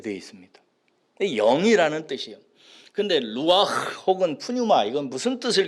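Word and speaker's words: רוח: 뭐냐 영이라는 말은 히브리의 말로 히브리 단어로 말하면 루와 이런 발음으로 이렇게 이름을 지었어요 루와 헬라어로는 프뉴마 이렇게 되어 있습니다 영이라는 뜻이에요 근데 루아 혹은 프뉴마 이건 무슨 뜻을 가지고 있냐면요 공기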